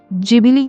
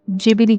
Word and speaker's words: Ghibli: है, तो फिर ये गिबली या फिर जिबिली आर्ट को ही इतना कंट्रोवर्शियल क्यों बना रहे हैं। गिबली, जिसे इंग्लिश में जिबिली करके प्रोनाउंस किया जाता है और जापानीज़ में जिबिली करके प्रोनाउंस किया जाता